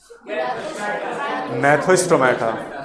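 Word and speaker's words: Gnathostomata: Division का नाम मैथोस्टोमेटा जी silent है।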